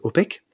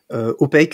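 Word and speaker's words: OPAQUE: En utilisant les échanges de clés par mot de passe augmentés, donc par exemple OPEC, OPEC, ça s'écrit comme en anglais, O-P-A-Q-U-E.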